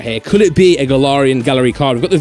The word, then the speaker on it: Galarian: Galarian.